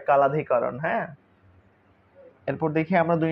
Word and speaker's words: কাল অধিকরণ: নাম হচ্ছে কাল অধিকরণ এটার আসলে আমরা কাল অধিকরণই বলি কিন্তু এমনি উচ্চারণ মনে হয় কালধিকরণ হ্যাঁ এরপর দেখি আমরা